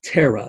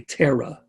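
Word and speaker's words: tera: with me capital t the metric prefix is pronounced terra everybody say tara tara has a single r not two r's terror with two r's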